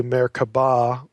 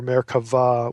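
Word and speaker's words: Merkavah: And me can either be spelled with a B, meraba, or merava with a V. It's pronounced V if if you're saying it in Hebrew.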